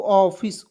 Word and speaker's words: office: चलिए उसके बाद देखते हैं यहाँ पे OFFICE, इसे पढ़ेंगे दोस्तों ऑफिस, OFFICE, क्या पढ़ेंगे, ऑफिस। यहाँ आप देखिए सी का उच्चारण क्या हो गया, स हो गया।